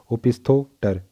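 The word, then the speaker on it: opisthaptor: जो पी है वो साइलेंट है, ओपिस्थोटर।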